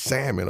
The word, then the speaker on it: salmon: your ministry okay the don't pronounce the L Ministry for real grab by say grandma it's salmon okay just do it